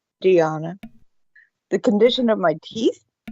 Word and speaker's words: Dianna: Just think of piano. You can call it piano or Dianna. There we are. Dianna. Yes. It rhymes with Gianna, just with a D. Dianna.